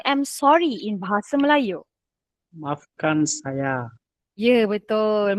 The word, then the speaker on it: maafkan saya: Maafkan saya. Ya, betul. Maafkan saya.